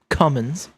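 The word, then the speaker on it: Cummins: yes I said that cumins and it's spelled exactly how it sounds too um yep that's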